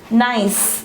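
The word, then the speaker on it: gneiss: slate then hgna iss we pronounce it as nice this is called nice don't really test genius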